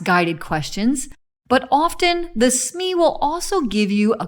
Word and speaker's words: SME: designer will get assigned a subject matter expert pronounce smee who allows you to mine their expertise in